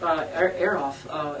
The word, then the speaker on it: Azoff: day, even with Jeff Aroff at Shangri-La, it was choosing the right label. And Am I saying it right? Azoff? Or No, you said it correctly.